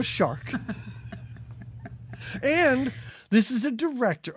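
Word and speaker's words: Jeannot Szwarc: say spell it again s z v a r c sharp shark shark yep je no shark and this is a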